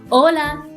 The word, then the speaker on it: hola: a few examples no sound of h hola hola let's letter j is